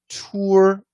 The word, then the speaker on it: tour: And tour, this is that long O plus R.